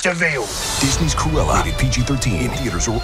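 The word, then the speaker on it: De Vil: in i'm cruella a spell devil but it's pronounced devil disney's cruella pg-13 theaters were ordered on disney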